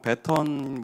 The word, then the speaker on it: 배턴: 요즘엔 바톤이라고 안 쓰더라고요. 이제 제대로 된 발음은 배턴 이렇게 쓰는데, 어쨌든 지금 우리가 붙잡은